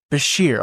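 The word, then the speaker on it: Beshear: Basher.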